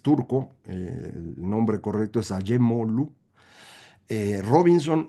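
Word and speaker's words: Acemoğlu: Son Acemoglu, así se pronuncia, usted lo va a leer Acemoglu, es turco, el nombre correcto es Acemoglu, Robinson y Johnson.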